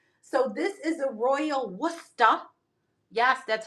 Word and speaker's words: Worcester: So this is a royal worusta. Yes, that's how you say it. Worusta. You don't pronounce that R.